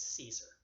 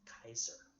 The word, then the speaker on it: Caesar: is Feld CEA SAR you probably heard him called Julius Caesar that was a mispronunciation the proper pronunciation of that name in Latin is Keizer Julius Kaiser is how you should be safe names but the term